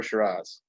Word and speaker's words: Shiraz: once that's either or shiraz i say shiraz i want to straws